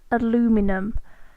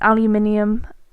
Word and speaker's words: aluminium: You have that common mistake where you pronounce it aluminum. We look at the word and we don't know where you've got that from, because I think we must spell it differently, but it's aluminium, and I have a